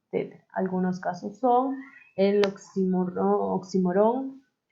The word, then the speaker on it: oxímoron: Oxímoron es oxímoron, porque lleva tilde en la I, oxímoron.